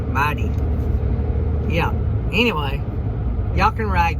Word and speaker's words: Mytee: I'm sure it's supposed to be pronounced mighty, like mighty.